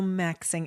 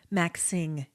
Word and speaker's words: maxing: shorter than maximizing so maxing and it's not Maxin maxing with a hard G well at least there's